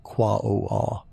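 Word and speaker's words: Quaoar: Quawa. It looks like it should rhyme with jaguar. And many people pronounce it that way, but the correct way is softer, more musical. Qua o r.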